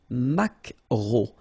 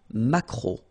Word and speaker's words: maquereau: So technically this K, just pronounce it K, mac, maquereau, maquereau. Alright? And then E-A-U, remember when you combine these three vowels, you get the sound O, maquereau.